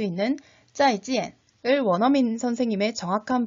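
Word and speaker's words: 再见: 두 번째 음절을 찌엔이라고 일성으로 발음하면 안 되겠죠. 물론 중국인들이 대충 알아들을 수는 있겠지만 그래도 정확한 발음은 찌엔, 사성입니다. 그래서 어떻게 발음하라고요? 네, 짜이지엔 이렇게 절도 있게 발음해 주세요.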